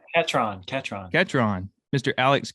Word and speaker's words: Ketron: alex how do you say your last name kidron catron ketron mr alex ketron with ollie's coffee which is based in oxford